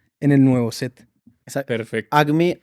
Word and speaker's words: Acme: Agme se escribe A, C, M y E de estudio, como el como el del bomba. El de la bomba. El de pip pip. Sí, porque uno siempre dice age. Y entonces uno suena como con he, entonces como para aclarar depende si tiene gripa o no.